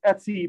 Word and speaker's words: etc: And it's in a directory called etsy, which is pronounced etsy, but is short for etc.